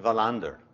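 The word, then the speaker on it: Wallander: is for you Steve in Swedish w is pronounced as V thus venogram the protagonist in this talk this afternoon Valen berry the most famous family of capitalists in twentieth-century Sweden and Vilander Henning Mongols magnificent fictional detective now if we pronounce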